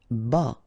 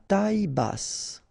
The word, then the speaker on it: bas: Q u E logique bas final S not pronounced bas ok bass final pronounce